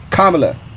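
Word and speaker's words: Kamala: know I so we talking about kamla Harris kamla I said it right for all you kamla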